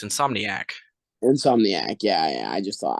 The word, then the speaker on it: Insomniac: I heard you say Insomniac a lot that I that was the one or two times I for you say insomnia but it's okay yeah I yeah it's Insomniac if I've been saying